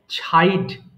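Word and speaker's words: chide: ছাইড তিরস্কার করা, মানে কোনো কিছু, মানে কাউকে অপমান করা, ছোট করাকে আমরা ছাইড বলছি, এবং CH যদি একসাথে থাকে তাহলে আমরা সেটাকে ছ উচ্চারণ করব। তাহলে এটা হয়ে যাবে ছাইড।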